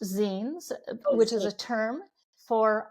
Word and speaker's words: zine: so um the it's usually it's you often pronounced Zen which is a term for um it's the